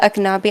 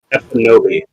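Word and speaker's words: Ekpunobi: She told, Amala Aknabi, I'm sorry if I butchered that name, but from PragerU. I think it's Epinobi. I think the K is silent.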